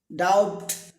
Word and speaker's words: doubt: Next DOUBT, ডাউট নয়, ডাউট, ডাউট নয়, ডাউট, ডাউট সন্দেহ।